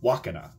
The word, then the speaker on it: Wakana: How do you pronounce it? So, Wakana.